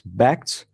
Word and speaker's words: Bakkt: that it's pronounced it's Beck's which is a wordplay on backed as in asset backed securities they call it a